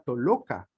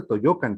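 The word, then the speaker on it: Tollocan: Toyoca, ojo, por una deformación de percepción, porque en realidad al emplear la doble L, lo que estamos haciendo o lo que hacían los transcriptores de ello era simple y llanamente alargar la L, no hacer la doble L o Y o el sonido Y.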